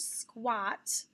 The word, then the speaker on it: squat: that other pattern here's squat when you squat down to reach something squat has an a after a q u which is also an example of when that a can sound like ah combination q u and